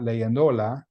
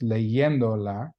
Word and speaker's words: leyéndola: So to show that it's not leyendola, it's still pronounced leyéndola, we have to write in an accent mark on that third from the end syllable.